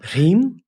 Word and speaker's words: Hri: Hri? Hri. H-R-I, Hri.